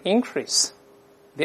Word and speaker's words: increase: 增长当动词都能 increase，但名词都能 increase。The accent is on the first syllable，重音在第一个音节。